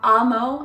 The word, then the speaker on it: Amo: talk about Amo denim ammo I think it's pronounced ammo ammo denim ammo um